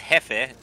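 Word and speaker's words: Jefe: That's Hefe. J E FF is Jeff.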